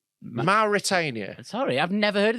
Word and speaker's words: Mauritania: did you just say how did you just pronounce that what mutarian Mauritania sorry I've never heard of this country before